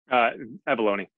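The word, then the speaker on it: Avallone: It is you and I'm going to try to pronounce David's last name. David Avalone. Avalone.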